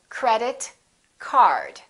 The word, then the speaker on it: credit card: For example, credit card. Credit card. 2 words representing one object, we stress the first word.